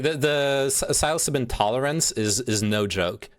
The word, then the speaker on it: psilocybin: I'm pretty sure it's pronounced psilocybin.